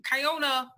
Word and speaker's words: Kiona: It's like you're like this movie because so Kiona Vineyards, is that right?